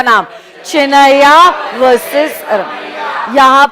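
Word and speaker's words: Chinnaiyya: और case law का नाम लिखिए, चिनैया वर्सेस रम.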